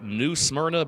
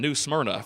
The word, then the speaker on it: New Smyrna: stock car racing World always pronounce it as New Smyrna they kind of throw an extra syllable in there but New Smyrna World Series of asphalt